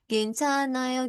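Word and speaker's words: 괜찮아요: Cuma giatnya ini ya itu dihilangkan bacanya atau silent jadinya Gencana. Jadi nya ini langsung ke A. Gencanayo gitu.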